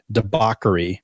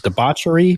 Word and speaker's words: debauchery: This next word I've been pronouncing incorrectly for years, but debauchery. But I've always said debauchery because there's a CH in it.